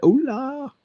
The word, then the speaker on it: hola: Hello and hola. Hola. H is silent.